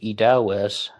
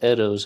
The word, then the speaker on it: Eddowes: and someone also said eddos it rhymes with meadows here is an absolute